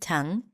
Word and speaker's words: tongue: jaw of your tongue again no G at the end tongue and I just release